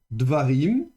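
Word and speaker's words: דברים: Donc normalement Davel deviendra devarim deva rim comme ceci.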